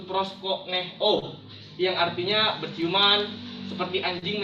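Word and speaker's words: προσκυνέω: Bahasa Yunani menyembah itu adalah proskuneo, atau dalam pelafalannya disebut proskoneo, yang artinya berciuman, seperti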